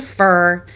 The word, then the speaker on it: for: Let's focus on reducing it to fur.